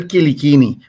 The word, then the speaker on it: Quilichini: the invitation Tony uh my name is kikini what makes it challenging is that when you